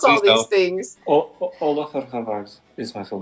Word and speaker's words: Ólafur: polo for harvard champion of i can't even pronounce all these things oh hold off is my full name champion of